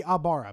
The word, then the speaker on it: Ibarra: Mikey Ibarra, basically. That's how you say his name.